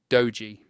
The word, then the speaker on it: doji: In that search bar, type the word dogee. Take a moment to spell it carefully, D O J I, so that the right results appear.